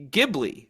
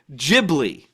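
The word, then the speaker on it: Ghibli: so ask anyone and they would typically pronounce studio gibli with the G sound as in gibli the actual pronunciation among the W hold on the actual pronunciation among the Western audience is the J sound as in jibi is it really yeah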